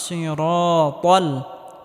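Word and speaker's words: الصِّرَاطَ: ইহদিনাস সিরাতাল ত মোটা করে উচ্চারণ করতে হবে, তাল হবে না, সিরাতাল হবে।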